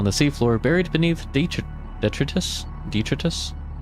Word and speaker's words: detritus: Eggs can be found resting on the seafloor buried beneath diet detritus.